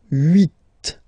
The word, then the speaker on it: huit: Then here, final T is pronounced, so huit. Huit. Remember in French, this H letter here, okay, doesn't exist phonetically, so we don't really pronounce it. Okay, so if you listen carefully, you will only listen or hear these vowels at the beginning of the word.